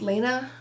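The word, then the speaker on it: Lana: So this is book 8 again in the series, and basically our main character, I believe her name is pronounced Lena. It's L-A-N-A, Lena Lee.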